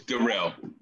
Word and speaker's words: Darrell: It's Darrell.